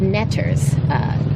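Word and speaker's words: neter: They were called netters, which we get from the word, or the consonants, the glyphs for the consonants, NTR, which when pronounced, you get netter, but you also get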